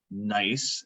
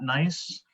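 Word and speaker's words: gneiss: and what is not nice or gennady of course so nice nice yes the g is silent um it's also high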